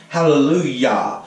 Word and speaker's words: Hallelujah: And Yah, when you say Hallelujah, you never notice it's spelled with a J, but you pronounce it with a Y. Hallelujah.